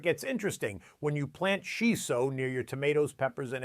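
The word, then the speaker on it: しそ: It's called shiso, pronounced shiso, sometimes called perilla or Japanese basil, and Japanese gardeners have been using it for centuries to protect their vegetables from pests.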